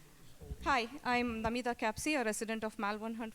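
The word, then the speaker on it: Kapsi: S H I Va and last name is Capsi with K A PSI PSI.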